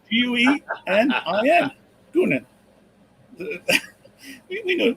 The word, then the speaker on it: Guenin: For the Flyers, we have Nate Guesin. You didn't even spell it right. Guenin. Guenin. We know. Where did the S come from? There was an S in there when you pronounce it, John.